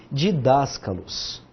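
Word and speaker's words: διδάσκαλος: Começamos com delta, iota, delta, A com acento, S, kappa, A, lambda, alfa. Ixi, alfa. É que eu tô sem meu óculos. No final é um ômicron, não alfa. Didáscalos.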